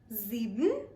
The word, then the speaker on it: sieben: The next number is 7, and 7 in German is pronounced as sieben. Sieben. Now just like sechs, the sieben also has a z in it.